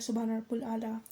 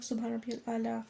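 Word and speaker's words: سبحان ربي الأعلى: तो कुछ लोग सजदे में फास्टफास्ट बोलते हैं। जैसे सुभान रब्बुल आला कुछ लोग सुभान रब आला फास्ट बोलते हैं जिससे मीनिंग तो सेम रहेगी बट ग्रामेटिकल थोड़ा प्रोनाउंसिएशन चेंज होगा।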